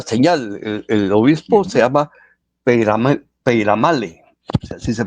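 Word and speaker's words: Peyramale: le pide una señal el obispo se llama peale así se pronuncia ya y el idioma que estamos hablando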